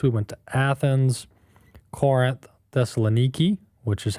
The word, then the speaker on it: Thessaloniki: We went to Athens, Corinth, Thessaloniki, which is how they pronounce it over there, and um several other places there in Greece.